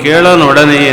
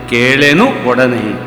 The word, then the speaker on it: ಕೇಳೆನು ಒಡನೆ: ಇಳಿಸು ಬಲು ದೂರ ನೋಟವನ್ನು ಕೇಳನೊಡನೆ ಅಂತ ಉಂಟು ಕೇಳನೊಡನೆ ಅಲ್ಲ ಕೇಳೆನು ಒಡನೆ ಒಂದು ಹೆಜ್ಜೆ ಮಾತ್ರ ಅಲ್ಲ